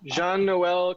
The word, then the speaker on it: Jean-Noel: name because I want to make sure we pronounce it correctly. Yeah, I'm right. Sure I got that wrong. Jean-Noel.